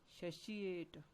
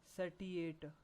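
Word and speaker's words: satiate: एंड एक next vocab word है, उसे हमने प्रोनाउंस करना है सैशिएट। सैशिएट, नॉट सैटिएट। इट is called सैशिएट, जिसका मतलब होता है संतुष्ट करना।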